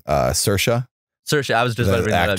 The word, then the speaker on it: Saoirse: Saoirse. Saoirse. I was just about to bring that up. Yeah, it's spelled so weird.